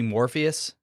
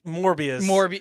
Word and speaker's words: Morbius: Was it going to be Morpheus? You said the name wrong, but Morbius.